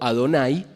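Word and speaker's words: אדני: acuerdo a nuestra tradición, olvidamos cómo pronunciar, y que leemos como Adonai, aunque no diga eso cuando uno lo lee en hebreo.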